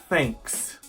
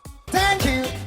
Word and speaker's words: thank you: Thanks. Thanks. Thank you. Thank you very much. 不是 thanks. 完全没有 s 的声音. This sound can be made